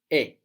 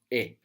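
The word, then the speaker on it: è: Now, this e is pronounced a little bit smiley. So make a smile and with an open mouth, make e. And there you will get the sound. Smile and open mouth, e.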